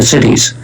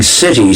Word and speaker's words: siddhi: going to achieve the siddhis. We did a survey among 1,000... By the way, you should probably spell that, because it sounds like you're saying city, C-I-T-Y, but you're not.